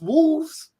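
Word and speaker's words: Wolfs: It's Wolves but it's spelled W LFS and it's starring um it's starring uh Brad Pitt and uh George Clooney.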